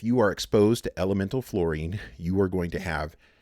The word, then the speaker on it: fluorine: about fluorine is that fluorine it's spelled f-l-u-o-r-i-n-e not f-l-o-u-r and so it's not flowering it's fluorine and fluorine we're going